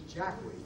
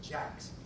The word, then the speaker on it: Jackways: These people, their name is Jackways. They didn't pronounce it Jackways. They pronounce it Jacks.